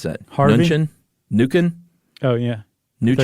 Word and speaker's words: Mnuchin: Fed Reserve Chair, and Steve, how do you pronounce that? Harvey? Mnuchin? Oh, yeah. Mnuchin? I thought you were talking about somebody else. Mnuchin.